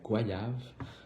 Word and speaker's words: goyave: Donc premièrement, pour l'étymologie du mot, donc goyave en fait, ça se prononce goyave. Donc c'est comme s'il y avait un i mais qui est pas là.